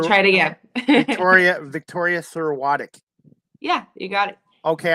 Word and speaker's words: Serwatuk: it okay yes um i didn't hear you pronounce it in the beginning let's see you try it again tauria victoria thorotic yeah you got it okay i just that's